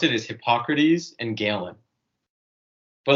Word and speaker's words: Hippocrates: about it it's the way my teacher would pronounce it is hippocrates and galen but like how would you know